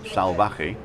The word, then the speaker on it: Salvaje: ca and then um salvage is s a l v a j e so the v is spelt like a b and the j is spelt like an h so and it means